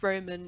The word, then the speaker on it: Roman: You know, Roman's mum, so how you pronounce Roman in Swiss German is Roman. But That's amazing. yeah, but you know, if you really want to do it properly, it's more of like a rolling R, but a lot of